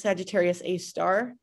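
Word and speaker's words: Sagittarius A*: trying to hide something from us it's actually pronounced sagittarius a star but it's not a star it's a black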